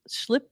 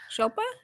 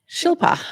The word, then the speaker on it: Shilpa: My wife Schlip Shipla Schlip, how do you pronounce that name? Shelpa. Shilpa. Shilpa has been working on healthy chocolates for kids.